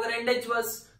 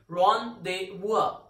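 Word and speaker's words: rendezvous: आप पढ़ रहे हो रेंडेज वर्ड्स, बट इट्स नॉट रेंडेज वर्ड्स. इसका सही प्रोनाउंसिएशन होता है रॉन्देवुआ.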